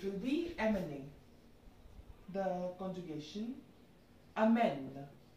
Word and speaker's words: emmener: Amen. Not emmener. The pronunciation will be amen.